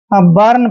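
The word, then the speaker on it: burn: जैसे बी यू आर एन, यहाँ पर बी यू के बाद आर आया है तो इसको हम बर्न पढ़ेंगे।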